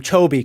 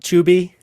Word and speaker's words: Chovy: You've clarified the right way to pronounce his name, Chobi, correct? Not Chubi?